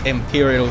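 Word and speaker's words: Empyreal: That's Imperial spelled E-M-P-Y-R-E-A-L, by the way.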